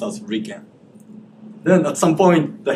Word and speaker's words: RIKEN: So this is in Japanese pronounced as Ricken.